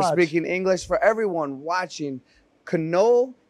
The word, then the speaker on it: Knoll: For everyone watching, Knoll, K-N-O-L-L, that is how you say it for my friends in America who are mispronouncing it.